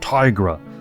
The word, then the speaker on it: Tigra: I've been saying Tigra, sorry. My Spanish upbringing, taking Spanish classes, gives me the wrong emphasis on certain syllables. Tigra. I'm sorry for all the people that have already commented, it's Tigra.